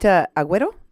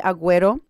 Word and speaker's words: Aguero: Is it Aguero? Is that how you pronounce Yes, it? ma'am. Okay. Yes. Aguero.